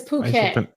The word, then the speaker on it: Phuket: they had a big it's Phuket. Oh that's how you pronounce it.